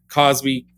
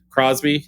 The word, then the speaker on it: Crosby: You have what's his name from Cosby Steels and Nash or what is Cosby? Crosby. Is that how you say his name?